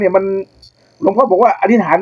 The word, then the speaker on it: อธิษฐาน: จาก ไอ้ อินเดีย น่ะ อย่าง ว่า อธิษฐาน ใช่ มั้ย จริง ๆ แล้ว มัน อ่าน ว่า อธิถาน นะ อ่า ถ้า ใน บาลี